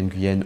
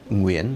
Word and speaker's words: Nguyễn: fait dans mon équipe si vous appelez ngen ou ngen parce qu'il faut commencer à le dire avec une bonne prononciation s'il vous plaît vous